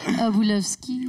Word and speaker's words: Obulovski: ouais, puis en tout cas, Matt, regarde, c'est moi qui vais faire Obulovski. Non, ouais, c'est ça. Obulovski. Oui, je pense que oui, tu viens de le bien prononcer.